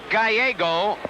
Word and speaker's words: Gallego: G-A-L-L-E-G-O, pronounced Gallego.